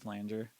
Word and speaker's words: flanger: a flanger uh camel fat has a good flanger or as um or as jansen taught me